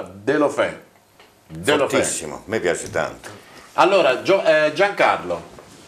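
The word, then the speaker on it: Deulofeu: Ocampos e a destra il francese, come si pronuncia? Delofè.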